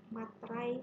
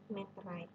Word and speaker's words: meterai: Pengucapannya biasanya kita materai sih, tapi yang betul adalah meterai. Nah, apabila ada perjanjian, perusahaan akan menggunakan bea meterai.